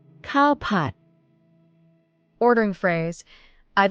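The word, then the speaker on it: ข้าวผัด: In Thai, cowpot. Cowpot.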